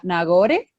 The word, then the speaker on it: Nagore: todo lo que hablo hoy no sé si pronuncio bien tu nombre nagore correcto y es es y mucho ustedes me